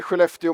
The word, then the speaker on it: Skellefteå: And it's called the Skellefteå model.